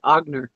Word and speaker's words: Aigner: Aigner. Okay. Well, I needed help pronouncing that.